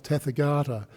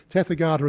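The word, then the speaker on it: tathāgata: means that when you when you sort of pronounce it as tether garter that means thus come but if you go um teth Agata no that's the way teth Agata means thus come but tefer garter means thus gone so it was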